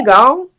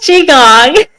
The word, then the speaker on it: Qigong: I don't even know if I'm going to pronounce it correctly. Is it Okay. Qigong? Oh, close, Qigong.